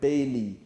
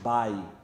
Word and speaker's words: Bailly: don't know why i always call him eric bailly i mean it's actually pronounced by oh well these names now looking at the